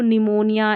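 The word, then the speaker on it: pneumonia: तो यहाँ पर देखिए इसको निमोनिया, इसको साम, इसको साइकोलॉजी पढ़ते हैं, इन सभी में P है ना साइलेंट, और यही स्पेलिंग्स है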